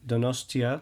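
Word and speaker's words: Donostia: this particular event in donosa is is that how you pronounce it that is the Basque name of the city the Spanish name is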